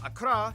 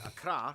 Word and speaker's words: Accra: ho and tamale and of course the capital Akra yes that's how you pronounce it Akra located in the Southeast along the coast the